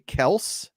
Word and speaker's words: Kelce: an interview said that their last name is actually Kels, but they stopped correcting people apparently. So they just let it happen. Yeah, I thought you were gonna say they pronounce it as Kelch.